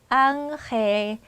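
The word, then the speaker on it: ángel: 발음이 좀 불편하잖아요 그러니까 자연스럽게 연결이 되면서 앙헬 앙헬 요렇게 가는 거예요 얘도 마찬가지죠 땅고 하려면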